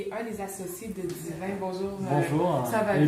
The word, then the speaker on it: D-Vine: Je vous dis, c'est Divin. Maintenant, je vais comprendre ce que ça veut dire. Ça s'écrit Divin, donc le chiffre 10, traduisons V-I-N-S, et c'est divin comme divinement, comme Dieu, etc.